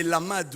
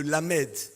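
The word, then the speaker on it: לָמֶד: Vous savez qu'un alphabet hébraïque, la 12e lettre, c'est le lamad ou le lamed. L'alphabet hébraïque, 12e lettre, c'est lamad ou lamed.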